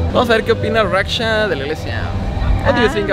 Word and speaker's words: Raksha: ¿Cómo se pronuncia tu nombre? Raksha. Raksha.